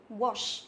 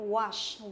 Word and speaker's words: wash: Nếu mà theo tiếng Anh á, thì chúng ta sẽ đọc nó là O, theo kiểu là O ngắn. Wash, wash. Thế còn trong tiếng Anh Mỹ thì chúng ta đọc là A dài, ví dụ wash, wash. Thì bình thường phần lớn là chúng ta sẽ đọc theo tiếng Anh Mỹ là wash, là wash.